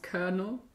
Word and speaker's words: colonel: lieutenant colonel oh god i just realized it's pronounced colonel she lives with her father richard a lieutenant colonel and mother jenny and her brother danny and